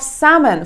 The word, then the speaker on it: salmon: You wanted to have salmon for dinner. The letter L is silent.